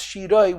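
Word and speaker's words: שירה: And it's written Shira with a Hey, which is feminine, and it's pronounced Shiroi with a Vav, which is masculine.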